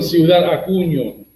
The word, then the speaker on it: Ciudad Acuña: and river where Haiti have been crossing from Ciudad Acuna, Mexico, into Del Rio, Texas, for almost 3 weeks. That's that's pronounced on Ciudad Acuña.